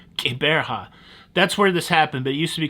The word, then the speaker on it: Gqeberha: It has recently been renamed to a name that's very hard to pronounce. Gqeberha. You gotta make a clicking sound somewhere. Gqeberha.